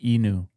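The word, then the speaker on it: Ainu: The Enu people. This was really actually fast. How do you spell it? Uh A I N U. But it's pronounced Enu.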